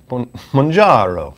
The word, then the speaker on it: Mounjaro: How do you pronounce it? I say Mounjaro, but like... Come on. Mounjaro. That's it.